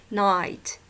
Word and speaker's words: knight: So it's correct that you don't pronounce it, you don't say knight, you say night.